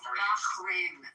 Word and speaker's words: Bahrain: I'm not Arabic, but it's Bahrain. It's pronounced Bahrain.